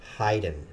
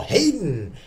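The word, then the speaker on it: Haydn: Symphonies heyen wrote and I can pronounce heyen which is amazing because once upon a time I couldn't I was all Hayden and it's not Hayden so 104 episodes 104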